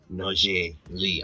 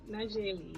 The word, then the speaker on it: Naujae Lee: We've got a special interview right now with our special guest in studio, fraud analyst Naujae Lee. I hope I pronounced it right.